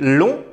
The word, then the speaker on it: long: لأن يمكن أن يقال في المؤنث long. Il est long. هو طويل. هي طويلة. Elle est longue. فلهذا في المذكر يكتب ج ولا ينطق. لأن في المؤنث ينطق.